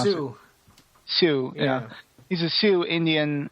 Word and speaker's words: Sioux: Yes, he's a Sioux Indian, or Sioux, or however you pronounce Sioux. it. Sioux, yeah.